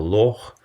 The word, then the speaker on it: Loch: as a strong tap another unique Scottish sound is ha pronounced in a small number of specifically Scottish words for example Loch and Scottish English is